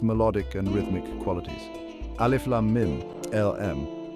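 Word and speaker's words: الم: Alif Lam Mim, LM. Pronunciation pronounced as 3 distinct letters, Alif Lam Mim.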